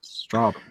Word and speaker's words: Strabane: Because again, I do have a book in the shops, How to Pronounce Everything. It's available in all good bookshops, but that is in there, and Strabane.